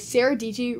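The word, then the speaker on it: Sara Dietschy: I made a full camera test with Sarah DG, rhymes with Peachy, so you should go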